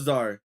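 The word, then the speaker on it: czar: The in so the so it is it was Zar. The C is silent too as well by the way. So the in the the inner braided Zar stumbled towards the Buru after missing his midnight rendevous out loud.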